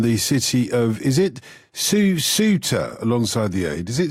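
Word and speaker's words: Cúcuta: He's on the border in the city of, is it Susuta, alongside the aid? Is it Susuta? How do you pronounce that, Stephen? Hi, Jotun. It's called Cucuta.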